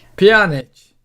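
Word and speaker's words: Pjanić: And, yeah, so a further 5 million, so 4.6 million on add-ons for Pjanic. I can never pronounce his name. Pjanic.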